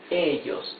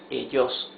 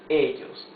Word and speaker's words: ellos: So here it's ellos, not ellos. No, ellos. Here it is not llaman, it is llaman.